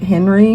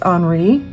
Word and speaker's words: Henri: I've always pronounced it Henri, but I guess it's Henri.